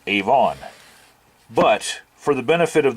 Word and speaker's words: Avon: bunch of instructors who pronounced the word spelled avon as avin now the people who live in that area now pronounce it even and most uh people in america would probably see that word and pronounce it avon but for the benefit